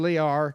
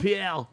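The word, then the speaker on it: Jean-Pierre: Did I pronounce the last name wrong? Pre. Oh, I'm so sorry. Go ahead. It's not Lear.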